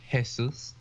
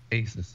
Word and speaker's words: Asus: I got it for hesus ASUS ASUS oh Asus yeah no it's Asus that doesn't sound grammatically correct but whatever no that's how the people who own it pronounce it I know but